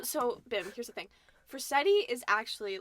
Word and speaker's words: Forcetti: definition of for setting yeah like y is for seti for seti all right so i got you